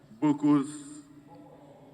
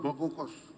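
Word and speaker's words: Bokkos: Studies, Plateau State University, Bokos. Senator Lalong, pronounce it for us. Huh? It's Bokos, not Bokos. Bokos, not Bokos. Yes. It's Bokos.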